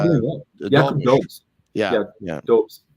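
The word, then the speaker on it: Dobeš: Dobes. How you pronounce it.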